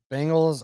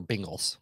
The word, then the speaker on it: Bengals: you say bengals are bengals bengals it's a it's a cross between an eye and an e i think but anyway there's